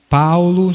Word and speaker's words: Paolo: Paulo se escreve P-A-O-L-O, Maria é igual a português, e depois Ciano, S-I-A-N-O.